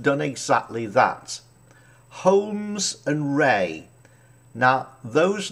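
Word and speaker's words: Rahe: m e s homes and ray r-a-h-e i think that's how you pronounce his name now they have done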